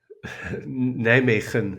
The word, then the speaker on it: Nijmegen: How do you pronounce that? Nijmegen.